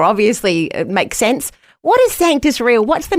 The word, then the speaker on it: Sanctus: He saw this word sanctis, but it's, you know, you and I might not know this. I I you know, it's actually pronounced sus because it's Latin.